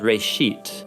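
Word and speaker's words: ראשית: of it's called Genesis Genesis comes from a Hebrew word uh it's pronounced Ray sheet and it just means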